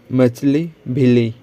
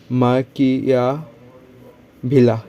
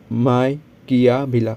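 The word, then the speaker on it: Machiavelli: और ये देख सकते हैं द इंडियन मछली भिली, ठीक है, मछली भिली। मछली भिली इसका प्रोनाउंसिएशन देख सकते हो क्या है? माकिया भिला, ठीक है, माकिया भिला, माइकिया भिला।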